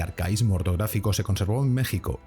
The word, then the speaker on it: México: se debe a que la letra X que aparece en la forma escrita de este y otros topónimos americanos, Oaxaca y Texas, conserva el valor que tenía en épocas antiguas del idioma, en las que representaba el fonema que hoy corresponde a la letra J.